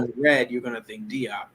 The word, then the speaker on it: Diop: Some of your listeners may be familiar with Sheikh Anta Diop, or some might hear the pronunciation Sheikh Anta Diop, Yeah. but it's Yeah. actually Diop.